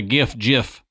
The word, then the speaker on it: GIF: Like the GIF argument here. That's right. It's GIF, by the way, graphic. It's not giraffic interfacing.